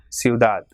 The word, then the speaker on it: ciudad: Same way, ciudad. It has got 2 syllables, ciudad. So as it is not ending in any vowel or N and S, so the last syllable is stressed. So it will be ciudad.